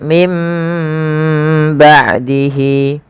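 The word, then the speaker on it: من بعده: Cara membacanya yaitu suara nunnya dirubah diganti menjadi suara huruf ba.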